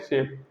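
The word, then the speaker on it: chef: Spelling क्या रहती है? सी एच, तो इसे बोलते हैं शेफ, ठीक है?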